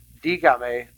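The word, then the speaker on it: dígame: comes the interesting part since I am adding this syllable that changes where the stress would fall first it should be just with a command form D got the stress is on the eye when you add an extra syllable it changes it to the a to keep that correct you need to add an accent mark on the I D gum a la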